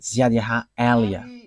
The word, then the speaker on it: Ziadiaha Elia: that is my name, so I pronounce it as my father pronounced it, Ziadiaha Elia.